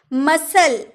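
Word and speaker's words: muscle: disciple यानी कि चेला मसल मसल सी का उच्चारण नहीं हुआ है मांसपेसी तो जब भी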